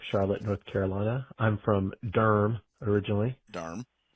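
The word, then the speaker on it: Durham: I'm from Durm originally. Darmm, one of the best cities around with one of the best pronunciations.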